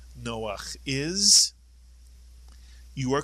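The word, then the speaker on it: נח: The first syllable is no. The second syllable is ach. Put the word together. Noach is correct.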